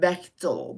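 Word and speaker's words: Bightol: the family last name is beol she always pronounced it beol beol beol b i g h t o l the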